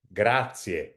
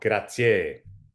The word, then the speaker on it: grazie: You have to stress the previous syllable, so it becomes grazie, not grazie.